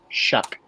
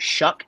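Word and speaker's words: Shough: Shuck. I've come to find out it is pronounced Shuck.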